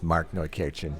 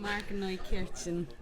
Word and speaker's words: Markneukirchen: I should mention we happen to be in the world headquarters of Warwick in Markneukirchen, Germany. Good pronunciation. Warwick, did I say? Did you say famous? Right. There you go. Markneukirchen.